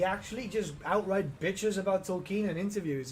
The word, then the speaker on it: Tolkien: Because it's pronounced Tolkien. It's actually pronounced Tolkien.